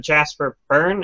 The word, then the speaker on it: Jasper Byrne: 2D horror games, and so definitely I think Jasper Byrne, am I pronouncing it right?